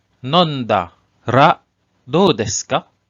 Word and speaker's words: nondara: In this example, "kusuri o nonda ra do desu ka?" So here, the pronunciation is nondara.